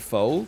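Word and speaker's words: pho: because you can't win if you ever say hey let's go out for foe you run the risk of somebody being like actually that's it's called fu and you have to be like i know i just didn't know if you knew which is why i called it foe in the first place and if you say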